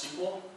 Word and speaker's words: SQL: Did you guys know that the letters SQL are pronounced sequel?